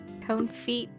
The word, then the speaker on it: confit: I could buy a confit this long you're pronouncing that all wrong dear it's okay it's called the conf it the flan all right